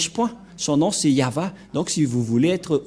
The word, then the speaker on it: Yahvah: de cette langue hébreu voilà donc le terme yava yava et on va voir comment on prononce cette parole yava ilsama yavashmo et nous